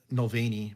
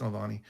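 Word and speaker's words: Navalny: noani aani yeah Nani I said it wrong last week I said noani but it's Nani um yeah it's it's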